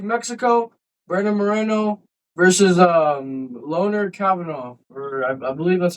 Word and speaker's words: Kavanagh: And tonight we're breaking down UFC Mexico, Brandon Moreno versus Loner Kavanagh. Or I believe that's how you say his name. Am I wrong? Kavanagh. Kavanagh.